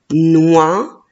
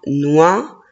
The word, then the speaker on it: noix: Le premier mot, oui, c'est le mot noix, ne, wa, noix, et la lettre X à la fin, je ne la prononce pas.